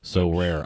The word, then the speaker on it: Sorare: like, well, I would never know how to pronounce SoRare. SoRare? SoRare.